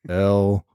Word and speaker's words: Louisville: He said it's Lullvll, Louisville. It's like Louisiana. Barkley, yeah.